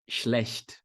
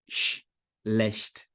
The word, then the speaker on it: Schlecht: Essa palavra, então, começa com SCH, você vai fazer sh. Cuidado para não colocar uma vogal I antes e fazer assim, ó, ish, não é ish, começa só com chiado.